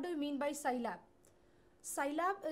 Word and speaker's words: Scilab: Scilab is pronounced as Sci, that is scientific, and Lab, laboratory.